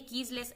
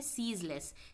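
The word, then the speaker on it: ceaseless: तो ये कीजलेस एक्टिविटी है, सीजलेस। इसे सीजलेस भी कहते हैं, कुछ लोग कीजलेस भी कहते हैं। ये एक्चुअली इसे, इसका सही प्रोनाउंसिएशन है सीजलेस।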